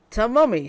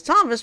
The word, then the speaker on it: Thomas: Tamumi, she says, before the graduate says his name is Thomas. She corrects herself and says Thomas, but doesn't even attempt to read his last name, Canavari.